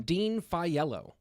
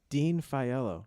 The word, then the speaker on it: Dean Faiello: Dean Faiello. Dean Faiello. Yeah, I didn't know if that was pronunciation.